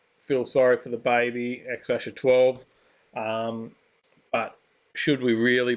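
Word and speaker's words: X Æ A-12: deal and it's pronounced x ash a12 x-acto 12. i believe something like that x actually i mean it's just x the letter x um and then the a e is pronounced ash and then a 12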